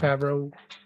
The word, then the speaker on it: Favreau: I think I pronounced his last name wrong. Favreau. Favreau, yeah. Yeah, excellent.